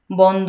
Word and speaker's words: বন্ধ: তারপরে সহসা বন্ধ, এই যে এটা কিন্তু বন্ধ না, বন্ধ, বন্ধ হলো তা কিন্তু বন্ধ হলো না, কিন্তু বন্ধ হলো, বন্ধ, বন্ধ, ধ উচ্চারণটা কিন্তু জোর দিয়ে করতে হবে, বন্ধ।